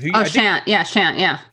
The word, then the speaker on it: Shant: I always mispronounce his name. Shant.